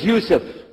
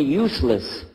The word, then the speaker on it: Yusuf: we'll work on itah my name is Yousef you say Yousef who said Yousef you're very good I wish you teach my wife she keeps mispronouncing it she calls me useless alhamdulillah now how many